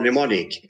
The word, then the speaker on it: mnemonic: p pneumonia so or mnemonic m is selling there uh and and that's